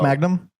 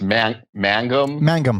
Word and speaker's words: Mangum: It's not pronounced like Magna. It's Mangum. Mangum.